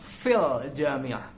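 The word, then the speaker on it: في الجامعة: it you remove it it becomes silent and then the owl the owl sound is still there but the our sound is silent and it is substituted when we feel sound so it becomes fil jamia so fil jamia means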